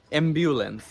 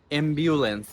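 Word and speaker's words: ambulance: অ্যাম্বুলেন্স basically এটা আমরা অনেকেই বলে থাকি অ্যাম্বুলেন্স, বাট এটার সঠিক উচ্চারণটা হচ্ছে অ্যাম্বিউলেন্স। অ্যাম্বিউলেন্স।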